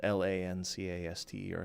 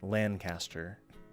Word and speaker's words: Lancaster: It's spelled L-A-N-C-A-S-T-E-R, so Lancaster. You let the N sound come out your nose.